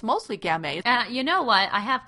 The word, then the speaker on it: Gamay: Gamay. Gamay. Beaujolais. It rhymes. That's an easy way to remember it.